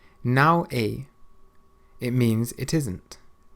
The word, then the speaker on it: não é: Não é. Não é. It means it isn't. Não é.